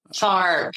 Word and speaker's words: Sark: Sark. It even rhymes with dark.